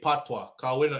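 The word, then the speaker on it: patois: And like I said, P A T W A PWA in the confusion because it is French to say O I S and this is silent and this is quiet and that is missing.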